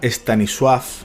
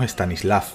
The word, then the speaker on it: Stanisław: Se pronuncia Stanisław, pero todos por aquí decimos Stanisław.